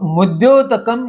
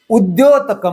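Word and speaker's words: उद्योतकम्: अब मुद्योतकम शब्द तो होता नहीं, इसलिए यह गलत उच्चारण है। प्रभाणाम ऐसा उच्चार करने से विग्रह नियम का पालन हुआ और म कट जाने से दूसरे पद का आरंभ का शब्द का उच्चारण उद्योतकम हुआ। यह शुद्ध उच्चारण है।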